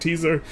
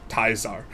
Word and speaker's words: Caesar: name project Caesar or some people like to pronounce it or some people think it's a teaser so they call it project teaser and people who know how to really pronounce it call it project taizar.